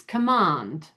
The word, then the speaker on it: command: So, like in the word command, that's two syllables, and you've got that A at the end there. So then it becomes command, right?